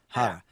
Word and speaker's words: Harra: How do you pronounce it? Hara.